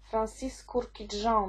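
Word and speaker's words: Francis Kurkdjian: My Burberry 2016 rok Francis kurki Joe najprawdopodobniej taka jest wymowa Woody aromatic czyli aromatyczne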